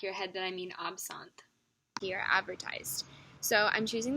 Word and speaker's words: absinthe: I pronounced absentee wrong. So the correct way to say this word is absent. And so throughout the video, when I do say absentee, just kind of